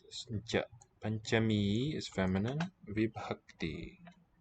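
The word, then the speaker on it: पञ्चमी: Panchami. So ncha gets a ligature. Combined writing. Panchami. We'll do palatal nya. Kill the vowel. Cha, voiceless. Panchami.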